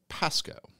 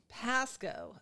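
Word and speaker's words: Pascoag: even that's too hard it's like the memory of a g is at the end Pasco like sort of like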